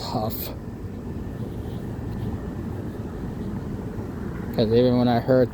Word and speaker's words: Hough: I've always thought for the longest time even growing up as a kid I thought it was pronounced hogue. But it's actually pronounced huff.